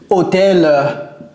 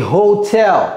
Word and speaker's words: hotel: en train de dire hôel h non c'est pas hôel vous dites ça un anglophone va dire c'est Hotel Hel prononcer le H ou bien avec R